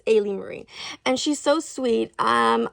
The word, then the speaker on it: Ailee Marie: I was always pronouncing her name incorrectly. I was pronouncing it a Marie, but it's a Ali Marie, but it's Ay Marie.